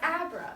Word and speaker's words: Abra: Abra, I think. Abracadabra. Yeah, it's Abra.